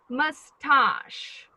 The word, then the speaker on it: moustache: do we pronounce it the stress is on the first syllable or on the second one the second one the second yes so we say moustache - remember they sound